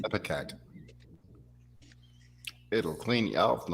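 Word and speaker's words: ipecac: Yes, Lori, it is pronounced epicac.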